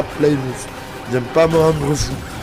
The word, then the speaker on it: Plymouth: Même si ça s'écrit TH, c'est la Plymouth.